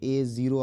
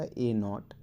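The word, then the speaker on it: a₀: power 1 + a0 a0 आप बोल सकते हैं उसको लेकिन करेक्ट उच्चारण होता है इसका a नॉट और x की पावर नॉट बोले तो x की पावर 0 अब ये है एक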